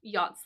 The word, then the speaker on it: yacht: But a yacht is a type of boat, okay? A yacht is a type of boat, and note my pronunciation as well too. Don't pronounce the ch here.